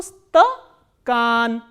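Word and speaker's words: стакан: Sa, ta, a, ka, a, na, and stress is on a. So, stakan.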